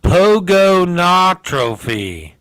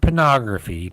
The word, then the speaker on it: pogonotrophy: All right, now this one's not pornography. It's called pogonotrophy. It's P-O-G-O-N-O-T-R-O-P-H-Y. Pogonotrophy. Not pornography. Pogonotrophy.